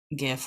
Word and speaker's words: GIF: a shiny looking um gif or jif however you want to pronounce it but um yeah i